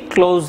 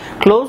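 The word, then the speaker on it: clause: ক্লোজ লিখেছি। আসলে আমার এসে একটু প্রবলেম আছে, এটা আর এর মতো হয়ে যায়। যাই হোক, আমি বলে দিচ্ছি ক্লোজ বা ক্লজ, বোথ প্রোনাউন্সিয়েশন আর কারেক্ট।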